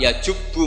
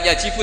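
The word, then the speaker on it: يجب: Terus Nabi ngendikan al-Islamu yajubu ma qablah. Itu bacanya bukan yajibu tapi apa? Yajubu ayaktau.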